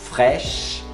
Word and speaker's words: fraîche: Fraîche, crème, não fala crème, crème, fraîche, para no CH, não pronuncia o E, fraîche.